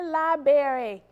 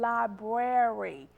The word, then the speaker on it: library: on how many of you have heard people say liberry liberry I'm going to the Aiken library no you are not here it's the Aiken library the second word is the correct way to spell that word all right number three